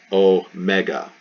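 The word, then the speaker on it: ω: with psy and then oh mega oh mega so not o mikron we have o mega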